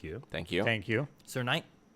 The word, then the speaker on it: Knight: Sir Knight. Sir Knight, yeah. You're right. The K is silent.